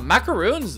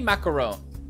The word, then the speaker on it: macaron: many macarons macrons macaroon how do you say it am i saying it right macaroons i feel like i'm saying right macaroon because they're like they're kind of like little cookies right oh am i saying it wrong hang on macaron wait really macaron macron macaron macaron macaron macron no no way in macaroon macron no i don't accept that macrons are french